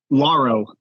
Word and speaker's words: Lauro: um it's a dude pronouncing your name is it Laro or Laro or Laura whatever uh lauro um oh yeah cool